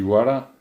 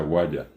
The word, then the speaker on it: guara: Y guara, por una degradación fonética, también en algunos lugares se pronuncia guaya, dependiendo de una cuestión de un regionalismo.